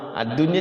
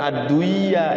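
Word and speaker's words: الدنيا: Ad-dunya jangan, bukan ad-duya ya, ad-dunya.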